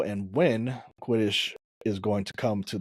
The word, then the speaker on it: Quidditch: world spots of, I don't know how to pronounce that, Quidditch? Hold on. Quidditch? Yeah, Quidditch.